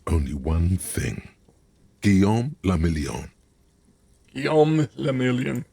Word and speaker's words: Gomon: Gomon. If it doesn't rhyme, you're not pronouncing it right.